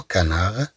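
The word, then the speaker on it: canard: اي enfin on a des mots qui s'écrivent avec d à la fin mais sont prononcés ce d. اذا طبعا بدون ان ننطق هاد لو غونار لنقول لو غونارد لو غونار لو غونار يعني الثعلب لو كانار لو كانار نتكلم عن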